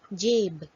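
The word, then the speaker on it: جیب: The sound produced by Ya-e-Majhool is A. For example, Jeem, Badi Ya, Be, Jeb, pocket.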